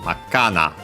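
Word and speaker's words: 真っ赤な: But yeah, so yeah, by the way, being accent on the on Makka, by adding na, then we should hear the accent Makkana.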